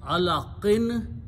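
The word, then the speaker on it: علق: Important thing is that what happens in the, when you stop, you do not pronounce the sound of noon, but it changes into sound of sukoon.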